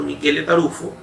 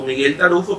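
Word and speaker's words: Michele Taruffo: vigente, es el doctor Michele Tarufo. Generalmente usted lo va a conocer como Miguel Tarufo, pero es italiano, esa es la pronunciación de su nombre.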